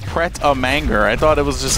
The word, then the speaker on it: manger: Manger is to eat. Manger. But it's spelled M-A-N-G-E-R, which would be manger in English.